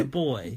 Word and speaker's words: buoy: Do you like the way Americans and Canadians pronounce the word life Buoy. boy? Boy. Yeah, we call it a boy.